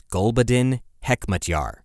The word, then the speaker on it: Gulbuddin Hekmatyar: It's a Pashtun name.